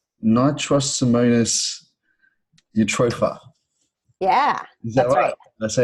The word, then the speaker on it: Nitrosomonas eutropha: Nitrosomonas eutropha.